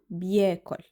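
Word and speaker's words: بياكل: So, it becomes um biyakul. Um biyakul. Sammy um biyakul. By pronouncing things fast, ba becomes almost silent, not pronounced. It's omitted. So, it is heard as um biyakul.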